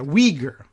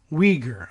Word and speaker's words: Uyghur: from time to time so let's go check the Weger Weger okay that's a little easier